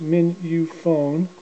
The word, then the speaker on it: Mignonphone: to the reproducer here the minion phone um pronounced min you phone um was um made